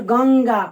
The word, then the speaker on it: गंगा: आगे पढ़िए गंगा, अंग, इसमें भी अंगा का उच्चारण हो रहा है।